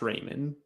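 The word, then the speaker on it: Reiman: I think it's pronounced Raymond.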